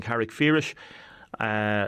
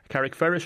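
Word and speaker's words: Carrickfergus: Mary Carberry, you are librarian in Carrickferris Library. We're talking about the Irish Book Awards. Carrickferris or Carrickferris? That's open to interpretation, Damien. I'm a blow-in from another county, so I call it Carrickferris as it's spelled, but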